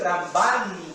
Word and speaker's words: Ramban: Si le dicen Ramban con N, es Nachmanides. ¿Ok?